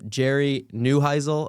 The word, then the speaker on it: Jerry Neuheisel: Jerry Neuheisel, I believe is how you pronounce his name.